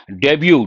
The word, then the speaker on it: debut: Debut, T is silent, opening act.